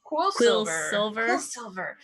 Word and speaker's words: Quillsilver: Quillsilver. Is it kind of be like Quicksilver? That's what people are going to mix it up with.